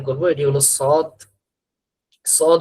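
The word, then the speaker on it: ص: তা আমরা আমাদের এখানে মাখরাজের মধ্যে দেখছি যে সদের উচ্চারণটা জিহ্বার আগা সামনের নিচের দুই দাঁতের আগার সঙ্গে লাগবে। এই ঠিক লাল পয়েন্ট যেখানে এখানে লাগবে। উচ্চারণ হবে সদ।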